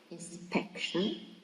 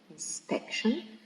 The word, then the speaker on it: inspection: So the first word, inspection, it is stressed in the second syllable, inspection, okay, because it finishes with the suffix tion, and all the words that finish in the suffix tion, or tion with C, or jeune with S, or ik, okay, are stressed in the second syllable from the end.